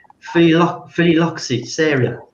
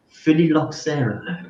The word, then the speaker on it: phylloxera: I'm going to try and say it properly, Phylloxera. How do you say it? How did you say it? Phylloxera, right?